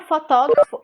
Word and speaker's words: fotógrafo: A palavra fotógrafo, ela tem 4 sílabas, ou seja, ela tem 4 sons. Fotógrafo, fotógrafo. 4 sílabas, 4 sons. Essa palavra ela tem uma sílaba que ela se destaca, que ela é uma sílaba que é mais forte.